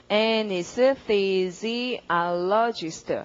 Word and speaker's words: anesthesiologist: anesthesiologist 됐잖아요.